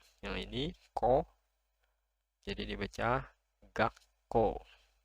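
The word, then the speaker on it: がっこう: Yang ini ko, jadi dibaca gakko. Ada ga, lalu ada su kecil, ko, u. Jadi dibacanya gakko. Gakko. Jadi double konsonannya.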